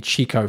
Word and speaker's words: Chico: be around this area here i'll be in chico for a bit that's how you say it